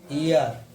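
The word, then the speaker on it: heir: एच के बाद अगर स्वर है, कोई भी वर्ड अगर एच से शुरू हो रहा है उसके बाद क्या होगा, स्वर होगा, तो फिर एच क्या रहेगा तुम्हारा, साइलेंट रहेगा। ठीक है, एग्जांपल देखिए, आवर, ईयर, है ना, ऑनर, ऑनेस्ट। ठीक है, तो इनमें सब में कहा रही एच तुम्हारी साइलेंट रही है।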